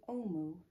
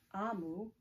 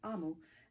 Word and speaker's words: Omu: And it's called Thank You, Omu. And it's by Ogie Mora. And I believe Ogie Mora does the pictures as well. Omu is pronounced Amu. Sorry, I said it wrong. Amu.